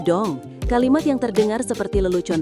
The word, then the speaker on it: dong: Jangan dung, tapi dong.